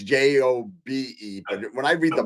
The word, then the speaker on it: Job: And Dr. Wong says job is pronounced Job, which is Jobe. So I guess I even spelt it wrong, Chris. I thought it was Joab. So it's Jobe.